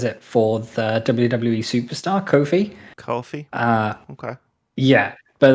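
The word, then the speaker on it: Ko-fi: a bit um and he pronounces it um coffee and i pronounce it coffee so i pronounce it kofi as well but i imagine it's supposed to be coffee because obviously when you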